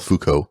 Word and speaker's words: Foucault: It's spelled weird, but I think it's called Foucault pendulum, right?